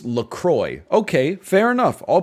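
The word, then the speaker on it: LaCroix: And then we've talked about this before, but your your company is called Laqua. Laqua. But you're like, "Nah, dude. It's Lacroy." Okay, fair enough. I'll pronounce it Lacroy.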